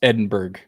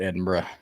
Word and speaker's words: Edinburgh: it doesn't it it should it should be pronounced Edinburg because this is America and they should pronounce it correctly but it's Scotland so they call it Edinburgh so yeah I'm doing the ancient worlds and